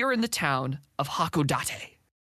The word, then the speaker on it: Hakodate: the scene we are in the town of hakodate right correct correctly pronounced uh it's very hilly and this guy